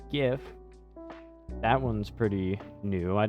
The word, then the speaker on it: GIF: yeah, how to pronounce GIF? Yeah, G like God and if.